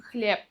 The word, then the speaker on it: хлеб: Например, хлеб пишем с «б», говорим хлеб.